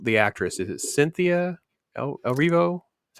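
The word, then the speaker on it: Erivo: Elphaba, the actress, is it Cynthia El Rivo?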